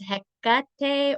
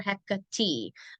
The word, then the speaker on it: Hekate: It's the middle syllable that needs to be like emphasized for her. It's Hekate or Hekate. You can hear it either way.